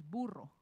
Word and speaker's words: burro: And if you know the name of the donkey in Spanish, it's burro. That's actually what it means, burro. So you can roll your R's.